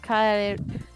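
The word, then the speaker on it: 帰る: Because do you need to actually separate the air, or can you merge it? You have to put them both together.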